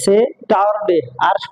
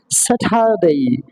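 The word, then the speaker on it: Saturday: আমরা বলতাম স্যাটারডে সেটারডে আর কি সহ নিয়ে বলতাম কিন্তু সেটা হবে না। সেটা হবে স্যাটারডে।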